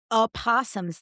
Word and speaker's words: opossum: I said, well, the O I think is silent. But today, my mind was blown because we went to a wildlife sanctuary and there were a p- opossums there.